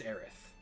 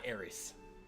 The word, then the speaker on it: Aerith: ith in english lettering it was always aerith not aries so i'm eric the